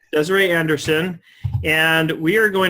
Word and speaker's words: Desarie: that right is it Desiree's that's how it's pronounced yes that's right that's correct Desiree Anderson and we are going to talk a